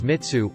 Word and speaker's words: mitsu: Check this out though, the Japanese word, well, maybe it's a bound morpheme, for honey is mi, typically cubed pronounced as mitsu, or mitsu.